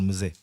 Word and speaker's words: Mzee: You know, so this is a fight between Gen Z and Gen Z with a silent M, Generation Mzee.